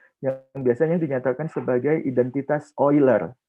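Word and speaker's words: Euler: biasanya dinyatakan sebagai identitas oil tulisannya uler gitu Tapi bacanya oil Nah dengan menggunakan identitas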